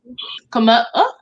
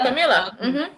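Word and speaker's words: Kamala: Camila. Yeah, you said it right. You said it right. Camila. Camilla or Camilla? Camila.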